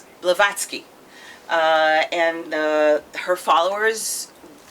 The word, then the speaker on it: Blavatsky: of uh of helena bilbatsky am i pronouncing the name right yeah blavatsky uh and uh her